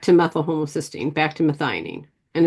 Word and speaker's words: methionine: Gets back to methyl homocysteine, back to methionine.